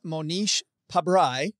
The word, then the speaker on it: Monish Pabrai: You begin the book with Monish Pabrai, I believe. Is that how you say beautifully it?